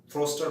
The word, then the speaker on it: Forster: তো ফস্টার এটা রাইটার, ফ্রস্টার বানানটা ভুল করবে না, FORSTER, অবশ্যই FOSTER দেবে না, FORSTER, ফ্রস্টার।